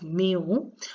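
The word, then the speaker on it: μ: ampere similarly 5 microvolt micro is represented by this symbol which is pronounced as mu and its value is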